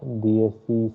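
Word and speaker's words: dieciséis: so 16 is the dsc says okay then you have dsc dsc pojo the pronunciation you have to be very clear here okay the letter is e which is pronounced as a so okay that is how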